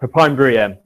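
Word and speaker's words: Pepijn: So a lot of this is down to this chap, Papine. He made this. I can't take any credit for it, but that's how you pronounce his name.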